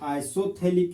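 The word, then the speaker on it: isophthalic: तो benzoic acid के Meta position पर अगर एक और कार्बोक्सिलिक एसिड लगा हुआ हो तो इसको आइसोथैलिक एसिड बोलते हैं, आइसोथैलिक एसिड। जहां पर पीएच साइलेंट होता है तो इस कंपाउंड को कॉमन नेम में आइसोथैलिक एसिड बोलते हैं।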